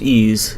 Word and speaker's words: EES: EES which is pronounced ease is an acronym for Engineering Equation Solver ease is an engineering